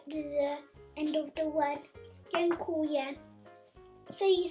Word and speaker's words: dziękuję: Another important word is thank you, which in Polish is dziękuję. So this E is pronounced G.